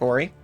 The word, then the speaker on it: Ari: very well what about Ari but it's pronounced like ory so like ory Ori is pretty cute if